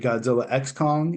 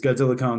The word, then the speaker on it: Godzilla x Kong: Is it Godzilla X Kong? Is it Godzilla Cross Kong? Is it according to Wingard, the X is silent. So it's Godzilla Kong, the New Empire, which I think is